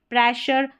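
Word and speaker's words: pressure: यहाँ पर एस को हम श पढ़ते हैं, जैसे कि प्रेशर, विजन, विजन, और ये है एशिया।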